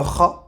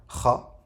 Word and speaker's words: خ: Donc le point de sortie de la lettre, c'est la gorge. C'est aussi la gorge. Kha.